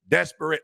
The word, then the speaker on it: desperate: You said desperate. I'm like, okay. They was like, it's not 2 syllables, 3, it's desperate.